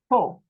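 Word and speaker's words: פה: the o on top and the H you don't say you just say po but when you write it you've got to put the H at the end to finish the word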